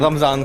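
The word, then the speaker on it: رمضان: तरीके की चीजें- नहीं, अगर आप उर्दू में बोल रहे हैं रमजान को तो रमजान है। सही उच्चारण आप एकदम कहें कि अरबिक उच्चारण के साथ आप अगर बोलना चाहते हैं तो वो रमदान ही है, रोमदान।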